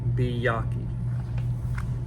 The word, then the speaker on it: Byakhee: for the video uh and this one is byaki let me double check the pronunciation chart on 280 so byaki is how it's pronounced so now let's see the HP Lovecraft